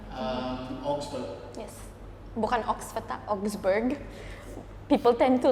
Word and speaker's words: Augsburg: That's how you pronounce it. Minneapolis. Augsburg. Yes. Bukan Oxford, Augsburg. People tend to like think it's Oxford, and I'm like, no, very far off.